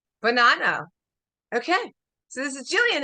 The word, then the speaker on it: Buonanno: Jillian how do you say your last name banano banano okay so this is Jillian and she's a